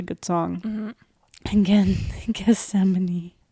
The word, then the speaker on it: Gethsemane: And again, Gethsemane. Gethsemane by Sleep Theory. Is that how you pronounce it?